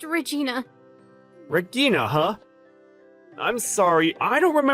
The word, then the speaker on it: Regina: How exactly do you pronounce that? Is it like Igna or, It's just Regina.